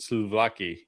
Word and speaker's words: souvlaki: When I Googled this, when you said the word, how do you pronounce that to make sure I don't butcher chicken it? souvlaki.